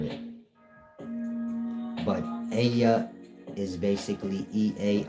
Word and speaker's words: Ea: E A the one y'all call Inky. His name is EA and EA is pronounced E a.